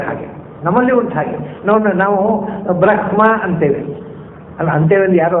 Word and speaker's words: ಬ್ರಹ್ಮ: 3 ಥರದ ಉಚ್ಚಾರ ಇದೆ ಸಂಸ್ಕೃತದಲ್ಲಿ ಬ್ರಹ್ಮ ಶಬ್ದಕ್ಕೆ. ಲೋಕದಲ್ಲಿ ಮತ್ತು ಋಗ್ವೇದದಲ್ಲಿ ಅದಕ್ಕೆ ಉಚ್ಚಾರ ಬ್ರಹ್ಮ ಅಂತ. ಯಜುರ್ವೇದದಲ್ಲಿ ಹಾಕ್ತಾ ಇಲ್ಲ, ಇಂಗ್ಲಿಷ್ನ ಹಾಗೆ ಬ್ರಹ್ಮ ಅಷ್ಟೇ, ಬ್ರಹ್ಮ ಹೇಳಲಿಕ್ಕಿಲ್ಲ. ಯಜುರ್ವೇದದಲ್ಲಿ ಸ್ವಲ್ಪ ಅಂದರೆ ಹಕಾರ ಇದೆ ಅಂತ ನಿಮಗೆ ಅನ್ನಿಸ್ಬೇಕು, ಗಟ್ಟಿ ಕೇಳಬಾರ್ದು.